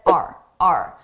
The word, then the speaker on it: our: Notice our I did not pronounce this as our. I said RRA very reduced sound our our successes, our successes, our successes and failures here.